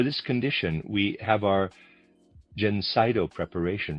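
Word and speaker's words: Gencydo: For this condition, we have our Jenseno preparation. Reader's aside spelled Ge N C Y D O. I'm pronouncing that Jenseno.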